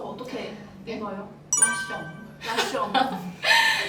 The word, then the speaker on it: La Chomb: 라숑브는 더 룸이라는 프랑스의 라샹브르에서 따온 말인데요. 그 약간 영어식 표현으로 쓴 말인데 사실 스펠링은 LA 라 CHAMBRE 라샹브르 이런 느낌인데 拉胸脯这个词的话，它是来自于法语，这个法语怎么读呢？我来问一下。프랑스어 어떻게 읽어요? 라숑.